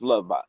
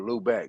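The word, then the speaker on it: Lübeck: ship Jesus, was in fact the Jesus of Lubbock, Lubbock, a 700-ton ship purchased by King Hold Henry on, hold on, hold on. That's Fifth, Sixth, Louvo. Seventh, Eighth. Louvo. Lubeck is spelled Lubeck. Oh, Lubeck.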